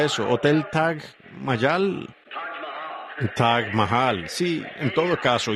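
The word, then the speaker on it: Taj Mahal: paré en el hotel en el tag T tag Mayal. Supongo que Billy, ¿cómo se pronuncia? Billy, ¿cómo? Billy Paul, ¿cómo se pronuncia eso? Hotel Tag Mayal. Tag Mahal, sí, en todo caso.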